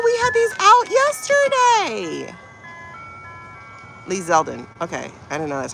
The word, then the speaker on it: Lee Zeldin: Lee Zeldin. Okay, I didn't know that's how you pronounce it.